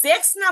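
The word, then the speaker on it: sechzehn: 16 17 এর ঘরে আমরা জেক্স না বলে জেক্সেন আর জিভেন না বলে জিপসেন এবং জিপসেন জিপসেন উচ্চারণে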